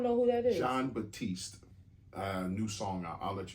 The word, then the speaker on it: Batiste: John Batiste.